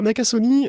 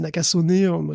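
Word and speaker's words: Nakasone: quand même très commenté alors nakasoni bon je c'est nakasoné nakason la prononciation à l'américaine je crois nakasoné bon en fait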